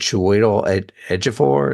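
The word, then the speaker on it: Joel Edgerton: Broadway musical yeah yeah it was him and Cho edor is how you say that Cho edor starred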